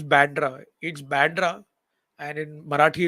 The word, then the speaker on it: Bandra: It's Bandra, and in Marathi it's called Vandre. So these are the two pronunciations that one can use. And in Hindi it's called Bandra, Marathi Vandre, and English Bandra.